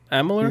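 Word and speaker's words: Amalur: follows kingdoms about amoler how do you pronounce that yeah amaler you got it okay it's a remaster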